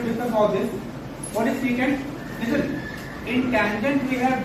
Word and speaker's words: secant: Not second, it is secant, है ना?